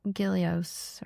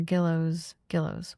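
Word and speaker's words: Gillioz: I think it's pronounced Gillios or Gillows.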